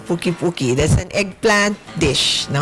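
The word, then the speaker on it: poqui-poqui: Puki-puki. What's the right way to pronounce it?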